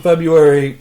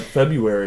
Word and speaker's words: February: And that the month of February is spelled with an R, but everybody says, like, February. It should be February. Yeah. Actually... Or it should just be February with no R.